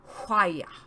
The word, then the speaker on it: Hwaya: Hwaya. Hwaya, we chorused, with a slight grumble on the and with a cadence from high to low on the last syllable.